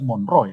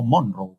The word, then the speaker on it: Monroe: Por si acaso la pronunciación correcta es Monroe, no Monroe, como he escuchado a muchos, ¿no?